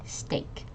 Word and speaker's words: steak: last one s okay this is a trick word uh this is actually a long a sound so you can think of it as there's no e here or you move it to the end so it's actually steak okay steak steak yes